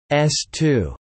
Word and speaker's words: S-II: The A1 and A2 stands were built to test and flight certify the second stage of the Saturn V, the S2, pronounced S2, the launch vehicle for the Apollo program.